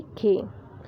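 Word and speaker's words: خ: वो है खे। खे के ऊपर एक नुक्ता है, इसका प्रोनाउंसिएशन है खे।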